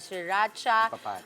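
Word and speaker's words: sriracha: Mamaya yung ginawa nating sauce diyan na siracha ah sweet chili sauce at honey. Paano ba-pronounce diyan? Siracha. Shiracha.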